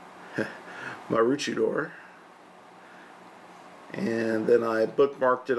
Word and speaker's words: Maroochydore: The closest location I could find was here, point B, which is, I believe is pronounced Maroochydore.